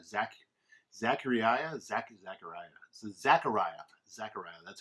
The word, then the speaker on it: Zechariah: is zac uh zak zachariah zach zachariah zechariah zechariah that's how you say it um so this